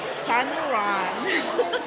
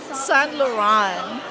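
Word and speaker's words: Saint Laurent: ang kanyang first ano the correct pronunciation San lauran say it San lauran Ah what else do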